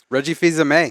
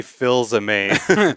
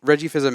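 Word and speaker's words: Fils-Aimé: fans of this man Reggie fils-aime yeah and you're the only one I know who can say his name properly I always say Phil's amaze fills me so let's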